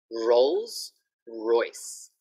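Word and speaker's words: Rolls-Royce: Okay, so the sound, R, R, Rolls Royce, Rolls Royce. The type of car, right? Rolls Royce. This one is difficult because it has an R, it has an L, and the S.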